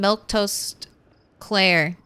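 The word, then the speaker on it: Milquetoast Claire: Uh, just so you know, I say my name, Milktoast Claire.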